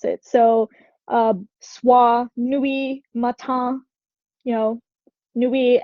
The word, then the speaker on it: nuit: So soir, nuit, matin, nuit ends with a T, you're not going to say it.